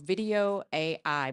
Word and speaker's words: Vidyo AI: and I found a program called Video AI, but it's spelled VIDYO AI dot AI.